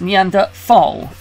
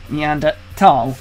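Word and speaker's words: Neanderthal: heard to it as meander fall is that a preference a preference and there's no H sound when it's pronounced in French and German it's something that I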